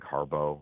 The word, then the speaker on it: Harbaugh: their offensive coordinator Greg Harbo it's still Harbaugh but it's Harbo for pronunciation guide purposes I think they're